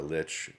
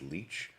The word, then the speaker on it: Lich: to see both Tamar Lich who I believe I believe the proper pronunciation is Leech uh like legitimately but I'm going to continue to call her Tamar Lich because her.